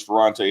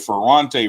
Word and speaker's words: Ferrante: Again, we got Miss Ferrante Edmonds, Travis Hellerman, and I know that Ferrante rhyme with Beyonce, but that face is beat.